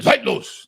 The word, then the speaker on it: Zeitlos: If you say it in German, Zeitlos. That's how the correct pronunciation.